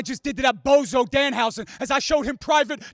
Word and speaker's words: Danhausen: Danhausen, that's his name? Danhausen? It's house, okay? Canadians say it properly.